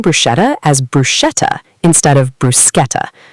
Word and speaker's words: bruschetta: The CH in Italian sounds like K. So bruschetta, the toasted bread with tomatoes and garlic, is pronounced bruschetta.